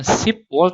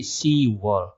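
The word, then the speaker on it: 시월: Bukan sipwol tapi siwol.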